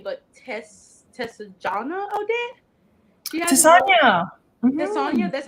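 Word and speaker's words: Tessonja: Tessania.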